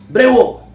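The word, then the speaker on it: bravo: ओह, unfortunate, alas, ब्रेवो या ब्रावो, दोनों तरह से प्रोनाउंस करते हैं।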